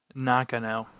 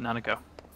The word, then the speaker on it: Nakano: okay not gonna know nakano that's how it's pronounced it's not nanako knock uh no oh